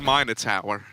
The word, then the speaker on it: Minotaur: although it is pronounced minor Tower minor Tower I don't believe that no but it's like minor Tower like you have to go American on the end oh okay all right